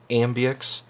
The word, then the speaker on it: AMBX: There's a company, they created this stuff called Ambix. I'm guessing that's how they pronounce it. It's spelled AMBX.